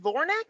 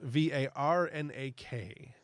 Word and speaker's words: Varnak: Is it Vornak or Varnak? Because I swear I have Varnak throughout the rest of my notes. It's probably Varnak. Okay. It is spelled Varnak.